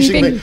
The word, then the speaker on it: Xi Jinping: Is that how you pronounce Xi Jinping? I've got no idea, but I thought it sounded a bit right. That's a very good pronunciation. Xi Jinping.